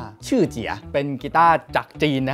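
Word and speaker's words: Shijie: สุด กีตาร์ ตัว นี้ มัน จะ สะกด ว่า s h i j i e อ่าน ว่า ชื่อ เจีย เป็น กีต้าร์ จาก จีน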